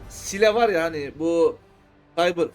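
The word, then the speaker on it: Síle: Sile var ya hani bu Cyber Floatsam'da bize ilk boss'umuzu öldürürken yardım eden gacı var ya. Bu o. Sile diye yazılıyor da Sil nasıl okunuyorsa o bu gacı.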